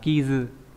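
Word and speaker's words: 傷: Dương thương này đọc là kizu là vết xước, vết thương.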